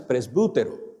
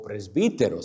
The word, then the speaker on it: presbítero: La palabra anciano es presbútero o presbítero, según cómo pronuncie la letra Y.